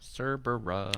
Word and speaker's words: Cerbera: matt it's a tvr cerbera cerbera like cerberus but cerbera so it's named for